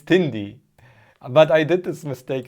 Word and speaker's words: Tindie: when you sell your stuff on pcbs on tinder or how it's spelled you should also include sdl files or 3d printer of a case okay yeah yeah sure it's tindy but i did this mistake as well this